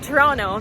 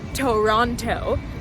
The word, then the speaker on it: Toronto: Pronounced Toronto, not Toronto, otherwise known as the Six.